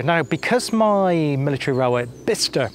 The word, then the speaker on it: Bicester: because my military Railway Bicester now that's definitely the right pronunciation on that one bista not bisester um because that was